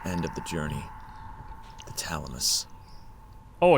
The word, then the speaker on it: Thalamus: her at the end of The Journey the thalamus oh it's pronounced Thalamus now okay good I've been pronounced